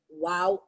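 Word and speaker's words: wau: like that and that is what they call wow kai okay so wings are similar to an arabic letter pronounced wow okay that is how they pronounce it wow can you say wow again wow kite okay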